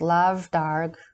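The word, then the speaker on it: lámh dhearg: suggestive one it was the lam dairg pronounced lav darg meaning the red hand it was the insignia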